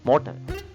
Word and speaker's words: motor: The first one is motor. How to pronounce in Spanish? Motor, motor. Letter T sound as TH sound.